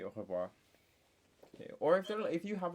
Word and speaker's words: au revoir: But so imagine hawking a loogie and you're saying au revoir.